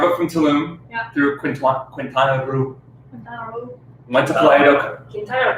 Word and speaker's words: Quintana Roo: through Quintana Roo. Went to Playa del. Quintana Roo. Is that pro? Oh, shoot, really? Yeah. Quintana Roo. Quintana Roo. Like quince. Quintana Roo. Quintana Roo, like an Asian Quintana person.